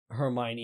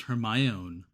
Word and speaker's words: Hermione: And I'm not one to say like, oh, I didn't like that because I thought Hermione had blonde hair instead. I thought it was pronounced Hermione. Right. Right. Hermione.